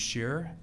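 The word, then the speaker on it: Scherer: My name is Shearer. Last name is spelled S-C-H-E-R-E-R.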